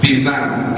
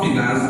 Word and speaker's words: finance: Most of them pronounce it as finance. It's not finance, but finance. Pronounce it.